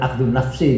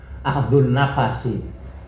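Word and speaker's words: أخذ النفس: Au akhdun nafsi, atau mengambil nafas, bacanya bukan akhdun nafsi itu ya, akhdun nafasi, karena nafas itu napas, bukan.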